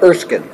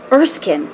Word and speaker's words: Erskine: correct way to say your last name exceeding erskine erskine wow okay okay and you have been at